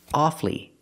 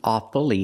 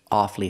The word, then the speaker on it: awfully: Or when I say awfully hard, we hear two syllables. Awfully. It's awfully hard. Not it's awfully hard, but it's awfully hard.